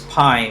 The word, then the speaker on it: PAI: There's a new feature called PAI, which is pronounced as PI, which stands for Personal Activity Intelligence.